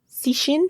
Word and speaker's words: Cixin: Please pronounce his first name for me. Cixin.